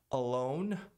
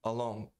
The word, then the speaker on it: alone: Sozinho, o N não é pronunciado. Se eu não pronunciar o N, a vogal E não é pronunciada. Alone. Se eu não pronunciar o N, vai soar como along. Along. Que significa ao longo. Alone. Alone. E não along.